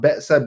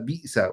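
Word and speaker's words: بئس: So wa bi'sal, once again, bi'sa is not ba'sa, bi'sa.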